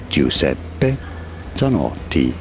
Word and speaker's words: Giuseppe Zanotti: Giuseppe Zanardi Giuseppe Zanardi。